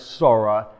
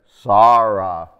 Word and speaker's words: Sarah: modern hebrew not as sora as in a yiddish-sized hebrew but as sarah with that long ah under the aleph the daughter of somebody